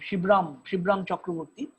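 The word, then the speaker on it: Shibram Chakravarty: about theor as he as he uh used to pronounce his name shibram chakravarti a great master of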